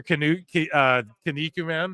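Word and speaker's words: Kinnikuman: Or Kaniku Man, right? That's how you say it.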